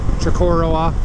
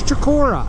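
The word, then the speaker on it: Chocorua: That is right above it, right in front of us there, is Mount Shakora. And again, there's another alternate pronunciation. People say Chikoroa or something like that. I don't know. It's Chikora, and this is the Kangamangus, okay?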